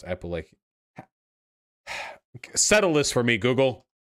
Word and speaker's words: Appalachian: If you're a fucking American Appalachian white miner, you are infinitely closer to some undocumented immigrant pulling weeds in a field than you are to Donald Trump.